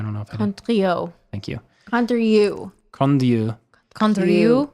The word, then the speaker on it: Condrieu: And like I said, the Condrieu is typically the, if I pronounce that right, I don't know if I did. Condrieu.